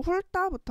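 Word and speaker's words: 훑다: 첫 번째로 훌따부터 한번 해 보도록 해 봅시다. 훌따라고 하는이 단어는 처음에 자군 단순화에 의해서 훌타 먼저 티귿이 없어져. 그런 다음에 리을하고 디귿하고 만나서 리을이 변하는 어 된 소리 되기.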